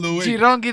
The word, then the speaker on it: Jirongi: Jirongi the soft G.